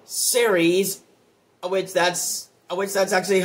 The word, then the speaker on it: Ceres: planet that is in the asteroid belt called Ceres, which that's actually how you pronounce it.